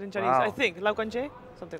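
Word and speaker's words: 老干爹: I think Lao Ganjie, something like that. Sure. Lumi. Lumi, how do you say LGD? Like the Chinese pronunciation. Is it? Say it again. Lao Ganjie. Lao Okay. Ganjie. There you go.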